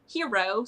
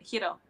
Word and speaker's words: Hiro: Roll the R a little bit. Hiro.